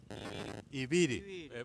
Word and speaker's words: Ibirí: Bien, estuvimos con Jonathan Ibirí, así es, ¿no? Ibirí. Con acento en la I, un acentito.